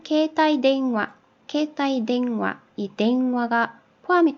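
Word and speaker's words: は: 하는 뭐 뜯는 이라는 주격 조사로 쓸 때는 하라고 쓰지 많은 발음을 와 라고 한다고 했죠 기억하시죠 그리고 그것은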